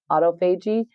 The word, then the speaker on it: autophagy: briefly, is when you go into what's called autophagy. Some people pronounce it autophagy.